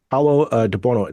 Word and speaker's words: Paolo De Buono: Thank you to Paolo de Buono. That is correct pronunciation of your name, correct?